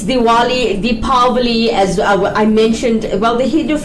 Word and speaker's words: Diwali: so Dali in English they call it diali because of the W being there right but it's it's Diwali the Pali as I